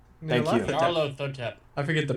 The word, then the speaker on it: Nyarlathotep: world as the ancient being, and help me pronounce this because I can't. Nylathotep. Thank you. Nylathotep. LC? Nyarlathotep? Thank you. Nyarlathotep.